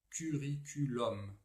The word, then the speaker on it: curriculum: Alors, les mots latins qui se terminent en UM se prononcent avec un O ouvert, comme O.